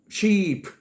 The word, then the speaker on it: sheep: The did you say Sheep you are the best ออก เสียง ยาว ๆ Sheep ถ้า ออก เสียง สั้น ว่า Ship มัน จะ กลาย เป็น เรือ ไป โอเค number 6 Which